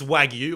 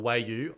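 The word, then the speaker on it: wagyu: got this wager on got this wagu or wayu as I said I said before the show I said I know six different ways that that word is pronounced and they're all right and then I anyway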